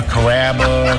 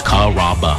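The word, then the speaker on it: Carrabba's: People chop it up pretty good. You know, coraba kamaba kamba. It's a really easy name to pronounce. It's kaba.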